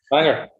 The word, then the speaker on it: Bangor: Is there anything much at in Bangor? Who? Bangor. No, it's Wales. Bangor. Bangor. Banger. Bangor. OR, but it's pronounced ER.